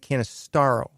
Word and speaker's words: Canistaro: I'm supposed to be Canistaro. That's the real, like Staro, not Stero. That sounds like ERO. Like sterile. It's Staro. Canistaro.